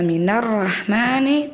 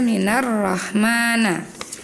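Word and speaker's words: مِنَ الرَّحْمَٰنِ: Yang pertama di surat Annabah ayat 37 harusnya dibaca minarahmani. Tadi Hilmi membaca minar rahmana.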